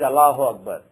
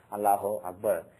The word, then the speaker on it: Allahu Akbar: Even though some people these days pronounce it as 2 different words with a break, Allahu Akbar, it's supposed to be 1 word, but when you say it as 2 words, the impact changes.